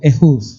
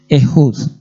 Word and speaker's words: Ehud: Bueno, Aoz, aquí nuestra traducción en hebreo, el nombre es Ehud, se pronuncia así, Ehud. Y el nombre hebreo Ehud significa alabaré y significa daré gracias.